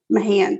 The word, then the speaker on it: Mahan: me sad officer no sergeant stephen mahan m-a-h-a-n my hand that's what i'm gonna